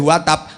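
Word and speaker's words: وَتَبَّ: Perhatikan, tabbat yada abi lahabi watab. Dan membacanya nggak boleh watab, harus watab.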